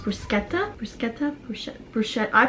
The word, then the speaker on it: bruschetta: They have like bruschetta board, which when I went to Italy, they said it's pronounced bruschetta. Bruschetta? Brushe- Brushe- I pronounce it bruschetta.